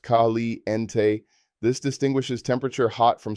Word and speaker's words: caliente: Hot referring to temperature is caliente pronounced khali ente.